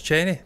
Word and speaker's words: Chennai: So it is Cheney.